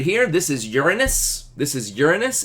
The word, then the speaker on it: Uranus: yay for for jokes I'm going with Uranus though technically technically neither of those is probably the accurate pronunciation like the real accurate pronunciation in the language